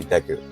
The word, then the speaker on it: Deku: Some people say Deku, I say Deku, right? So I base it off of the Japanese pronunciation.